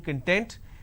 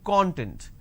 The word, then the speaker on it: content: me the training content it's not training content it's training content so these are the